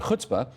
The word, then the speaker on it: chutzpah: And thank you for pronouncing chutzpah with the requisite Yiddish.